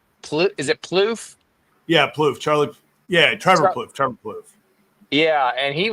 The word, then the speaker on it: Plouffe: Yeah, Plouffe.